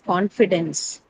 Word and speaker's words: confidence: Confidence is a noun. So it has to take it on the first syllable.